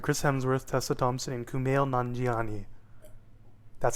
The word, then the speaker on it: Kumail Nanjiani: Black International starring Chris Hemsworth Tessa Thompson and Kumail nanjiani that's how you say his name everybody and